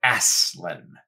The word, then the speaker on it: Aslan: the letters to children he said that he pronounces it aslan so there you go